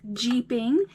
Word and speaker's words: jeeping: You guys heard me say a funny word, jeeping. That's spelled J-E-E-P-I-N-G, just like the car.